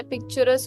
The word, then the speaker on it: picturesque: पिक्चरस कहते हैं हम लोग, इसका प्रोनाउंसिएशन जो होता है पिक्चरस होता है। पिक्चरस तो क्यू साइलेंट हो गया।